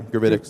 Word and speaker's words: Gravitics: Oh, yeah, Gravitics.